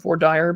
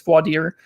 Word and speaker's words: voir dire: In Texas, they call it voir dire, but I know it's voir dire.